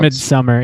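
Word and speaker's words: Midsommar: Or I don't know how It's it's pronounced midsummer, yeah, but it's It is pronounced Midsummer.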